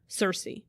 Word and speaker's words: Cersei: Cersei. Cersei, okay.